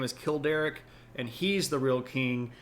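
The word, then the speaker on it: Childeric: This, by the way, is supposed to be Kilder. Yes, like Kill Derek. Uh perhaps Kilderick if you wanted to be a bit more emphatic on the first syllable there.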